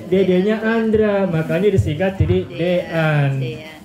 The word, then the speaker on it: Dean: Tadi saya bertanya kepada Bapak Rizky, Pak Rizky mohon maaf saya belum tahu artinya Dean, itu bacanya gimana? Dean atau Din? Dean gitu.